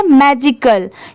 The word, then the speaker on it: magical: मैजिकल, क्योंकि यहाँ पर लास्ट में AL भी यूज हुआ है। तो आप इसकी स्पेलिंग याद कर लीजिए, MAGICAL, मैजिकल।